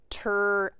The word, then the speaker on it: tragic: This G will say J because it is followed by an I. This word is tragic. What's the word? Tragic. Tragic. It's a soft G that says J.